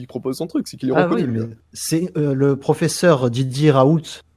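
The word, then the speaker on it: Raoult: c'est le professeur didier rahout je prononce bien son nom raul qui est une référence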